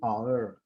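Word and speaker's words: hour: एन आवर, ऐसे ही आप देखें OUR की आवाज आ रही है, H साइलेंट है, इसलिए इसके आगे H का आवाज नहीं निकल रही, एन आवर।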